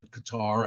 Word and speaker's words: Qatar: road to qar and people say why do you say qar and I said it Rhymes better it's just a better rhyming word and but it's true that everyone there called it Qatar and and the British